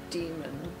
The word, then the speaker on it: daemon: So if you spell it D-A-E-M-O-N, it's still demon.